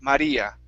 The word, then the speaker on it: Maria: I'm not saying avoided it's not an English R it's the feeling of a Spanish R like when you say Maria okay your tongue hits the